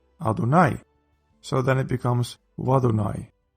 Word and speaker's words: Adonai: This last one almost certainly has to do with the fact that Yod-Hei Wav-Hei is typically pronounced Adonai, so then it becomes Wadonai.